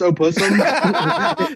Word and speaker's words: opossum: Pussum, dude. No. Oh, pussum. No, we got to veto that. Yeah, they always Did you know silent. yeah, did you know it's actually pronounced opossum?